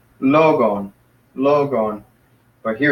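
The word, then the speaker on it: λόγον: So it's logon. Logon. So the accent is up here, logon.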